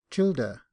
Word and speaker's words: childer: Footnote: Childer. This is the manner in which many of Thady's rank, and others in Ireland, formerly pronounced the word children.